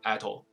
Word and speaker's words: atoll: 些来源，它叫做 atoll，就像 asshole 一样。